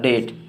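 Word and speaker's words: date: और टी से तो डेट। ध्यान रखिएगा अंत में ई का उच्चारण नहीं किया जाता है, बहुत कम ही जगह है जहाँ पे किया जाता है।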